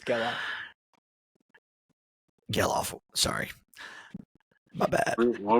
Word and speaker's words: Gelof: It's Geloff. Geloff. Sorry. My bad. What were you saying? Geloff? No, I was saying Zach Galoff instead of Geloff.